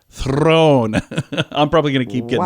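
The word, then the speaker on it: Theron: she says you don't you pronounce the the r with a a slight roll Throne I'm probably gonna keep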